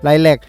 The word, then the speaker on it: ไลแลค: ดอก อ่า ไลก เออ มัน อ่าน ว่า ดอก ไก นะ อย่า ไป อ่าน แลก นะ ไลแลค แล้ว ก็ ดอก ทาน ตะวัน